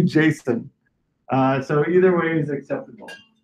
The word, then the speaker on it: JSON: But the guy that created it said it's supposed to be Jason.